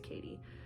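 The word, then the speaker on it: Cady: you say her name her name is cadence and they shorten it to katie c-a-d-y i can't imagine how else that would be pronounced besides katie anyways um every summer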